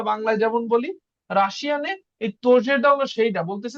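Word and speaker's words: тоже: তো এখানে আমাদের আজকে কনসেপ্টটা শেখার বিষয় কি তোজে, তোজেটা হইলো নতুন, এটার উচ্চারণ হবে তোজে, তোজে।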